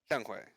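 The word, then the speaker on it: Younghoe Koo: now that's a kicker pronounce his name right how do you say it young way all right fair enough i prefer young hoku because it makes it makes more sense when i read it from jeremy's name all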